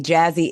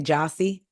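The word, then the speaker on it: Jassi: her name like I I'll be wanting to say jossi for some reason but it's Jazzy so we got Jazzy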